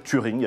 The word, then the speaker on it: Turing: Ils m'ont pété la gueule, ils n'ont pas arrêté de me poser des questions sur un projet qui s'appelle Turing, a priori, ou Turin, vous appelez ça comme vous voulez.